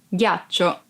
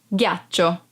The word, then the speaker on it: ghiaccio: Ghiaccio, ice. Ghiaccio, ice. Be careful because if you don't pronounce G as a hard sound like G, it would be ghiaccio, that it's a verb and means lie down.